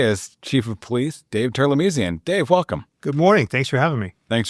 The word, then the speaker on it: Terlemezian: It's phonetic actually. It's spelled t e r l e m e z i a n and it's perfectly phonetic.